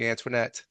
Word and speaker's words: Antoinette: Am I pronouncing your last name correctly, Antwinette?